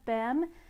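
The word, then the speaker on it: Behm: and it is by martina bem that's spelled b e h if that name sounds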